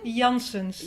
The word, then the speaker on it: Janssens: Do you want to jump in with the correct pronunciation? Janssens.